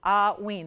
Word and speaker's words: hauyne: Again, it's pronounced like, if you're spelling it out phonetically, it's going, you think of it like A-H-W-E-E-N. A-H-hauyne, hauyne.